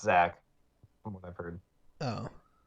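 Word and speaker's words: Zech McPherson: i i know it says deck but it's pronounced zack from what i've heard oh yeah i thought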